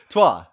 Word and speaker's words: Troyes: And if you still don't know what game we're covering, it is spelled Troyes. So that would be how to look it up. Trois.